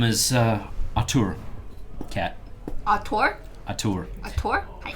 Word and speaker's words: Atur: My name is Atur. Cat. Ator? Atur. Ator? How do you spell that?